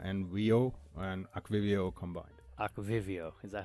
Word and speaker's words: Aquivio: it's like aqua and Rio and aquivio combined Aqua Vivio is that how you pronounce it yeah it's so cool act video